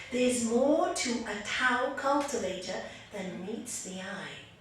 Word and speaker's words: Tao: They actually say Tao. Tao. It's T-A-O, but they pronounce it as Tao.